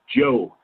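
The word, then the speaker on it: Zhou: That was Z-H-O-U, Joe. Anyway.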